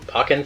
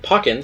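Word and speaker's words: Pokkén: called Pokemon Tekken, because in Germany, Pokken sounds like the word for smallpox.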